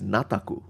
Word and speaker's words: Nataku: the name is na the normal uh Japanese pronunciation for it would be nata but this author uh created a term uh a new name for it a new spelling for it which is nataku that's why if you look